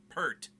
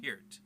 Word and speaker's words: Neil Peart: part the drummer for rush his name is Neil Peart not hurt Americans always get that wrong hurt it's not hurt it speared he even said it himself he said my name is pronounced peered excuse me anyways that being said just a